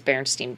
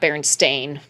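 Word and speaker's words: Berenstain: number of ways though you could easily misread this especially if you pronounce it burn stain stain you would assume it's an e yes and I feel like any time I've ever heard it pronounced it's Berenstein Bears right Berenstein yeah not bearing stain sorry that one yeah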